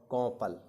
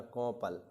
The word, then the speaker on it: कौपल: फुनगी के देखिए मंजरी, अंकुर, किसलय, कली और कौपल। कौ है भैया, ध्यान रखना, कौपल। सही उच्चारण करोगे तभी सही वर्तनी कर पाओगे। आरओ के पेपर में 10 नंबर में वर्तनी शुद्धि आएगी। आप कोपल पढ़ोगे तो कोपल लिखोगे, सीधी बात है, कोपल।